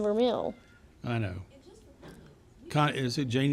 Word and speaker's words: vermeil: actually vermeil is the correct way to say it, but you look at it, it says vermeil, so you think you want to say that, but it's. I've always a French said word.